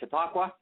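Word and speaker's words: Chautauqua: going to uh the is it how do you say it chitakwa conference right yes okay yeah or else uh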